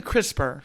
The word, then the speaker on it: CRISPR: yeah well get the CRISPR a little crisper yeah it's spelled just like it sounds Chris it's all I have there's no II see our i spr now it's called the